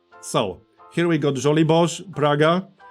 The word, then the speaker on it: Praga: So, here we got Żoliborz, Praga, Wola, Śródmieście, Ochota, and Mokotów. That's how you pronounce all these names, by the way.